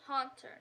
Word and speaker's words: Haunter: is still about hmm it's haunter not hunter sorry i got that